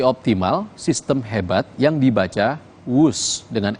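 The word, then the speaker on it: Whoosh: waktu hemat operasi optimal sistem hebat yang dibaca wus dengan ejaan wus nah Tahukah Anda Apa arti kata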